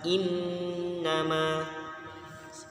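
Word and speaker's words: إِنَّمَا: berkas gitu itu demung cara bacanya Im nama in nama kalau dibaca in nama keniro salah yang benar in nama itu kemudian lagi muslim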